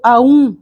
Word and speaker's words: Om: O pranava ou Aum, que se pronuncia Om.